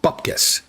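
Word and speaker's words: bupkis: We here in the colonies, well, okay, the American colonies, it's spelled bupcus. B U P K I S, just so you know.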